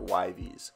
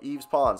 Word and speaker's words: Yves Pons: say his name because if I was like v's or why v's really weird but he's French so Yves pons let me hear your